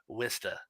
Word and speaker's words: Worcester: worcester massachusetts the city i was born in vista it's spelled worchester but we pronounce it wista birdcoat street represent um it's um it's an